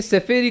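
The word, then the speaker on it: ספרי: இந்த கடைசில ஈ உச்சரிப்பு, आखिरी जो ये ई उच्चारण है அது ரொம்ப முக்கியமானது. वो बहुत महत्वपूर्ण है. அதுதான் वही அதனுடைய அர்த்தத்தை தீர்மானிக்குது. उसके अर्थ को तय करता है.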